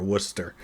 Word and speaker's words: Worcester: we actually have w o s t r Worcester Gora a tribe and the southern city of